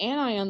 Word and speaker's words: anion: have onion and ani anion sounds like two different words put together an ion okay um but it's